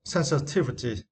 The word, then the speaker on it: sensitivity: And for the next was sensitivity. Sensitivities, and for this was you need to stress the third syllable T.